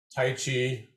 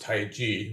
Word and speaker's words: Taiji: internal martial arts are tai chi or really should be pronounced tai chi with the j sound which is how it's phonetically pronounced in mandarin chinese uh bagua zhang and